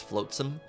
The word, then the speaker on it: flotsam: floats them even though it's it's spelled float Sam it's floatsome I accept I'll take